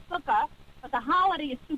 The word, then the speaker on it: sukkah: see standing in the drive those are called sukkah but the holiday is too close right right okay right so the sukkah right so sometimes it's it's it's it's free